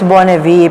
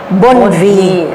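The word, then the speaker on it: Bonnevie: kasi sa Pilipinas It's Bon V pero and real pronunciation because it's a French name Bon V kasi Bon means good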